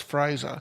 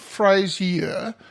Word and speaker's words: Fraser: week we had Alice Fraser trilogy and it's not phrase here as I was pronouncing it it's just Fraser no III every time